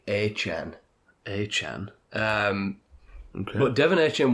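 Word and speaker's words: Achane: It's not A-Chain, it's like A-Chan.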